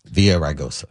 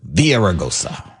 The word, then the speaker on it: Villaraigosa: Villaraigosa. Yeah, that's Villaraigosa. The anglicization of the word. Villaraigosa. But if you're going to pronounce it in Spanish, it's Villaraigosa. And the Antonio has a soft T.